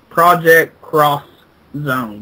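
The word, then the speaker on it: Project X Zone: Well, um the um the game is for the 3DS and it is titled Project Xone and the X actually is pronounced cross. So, it's pro project cross zone, which is a weird name.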